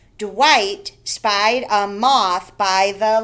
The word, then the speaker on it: Dwight: sorry at the top dwight the gh is silent dwight spied a moth by